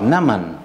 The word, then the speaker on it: Naaman: Naaman, hein, c'est ça la prononciation, bonne prononciation.